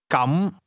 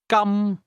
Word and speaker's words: 今: The difference is that the word for in that case is pronounced with a mid- rising tone while the word for today has a highle tone.